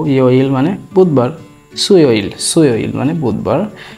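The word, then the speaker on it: 수요일: বুধবার হচ্ছে সু মানে হচ্ছে বুধ, এরপরে ইল, সুইল, সুইল মানে হচ্ছে বুধবার, সুইল উচ্চারণ হবে সুইল, সুইল, সুইল, সুইল মানে বুধবার।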